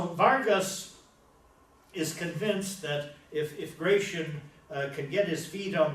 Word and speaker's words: Gratian: This is Gratian, or Gracian, to use the Spanish pronunciation.